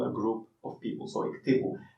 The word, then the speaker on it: اكتبوا: So iktibu. The alif is not pronounced, so sometimes people just delete it, they write iktibu with also, yet in Egyptian Arabic people are more relaxed.